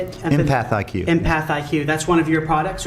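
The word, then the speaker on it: EmpathIQ: Empath IQ.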